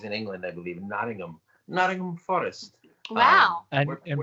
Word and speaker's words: Nottingham: england i believe in nottingham nottingham forest wow and and by the way mike very good pronunciation i'm glad you didn't say nottingham anyway she wants to